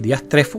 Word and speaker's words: diastrefo: y entonces va a encontrar aquí diastrefo. Fíjense que efectivamente así es como se pronuncia en español.